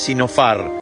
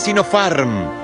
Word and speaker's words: Sinopharm: El laboratorio no es Sinopharm, es Sinopharm. Y el libro más vendido no es un bestseller, es un bestseller.